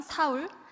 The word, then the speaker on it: 사울: 되는 이름을 가지고 있었는데 바로 히브리 씩 발음으로 하게 되면 사울 그리고 그리스 식으로 발음을 하게 되면 바울 이라는 이름인데요 그의 이름은 어 4